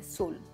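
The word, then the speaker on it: swollen: दोस्तों, इसमें W को हम प्रोनाउंस नहीं करते, हम कहते हैं सोलन, राइट?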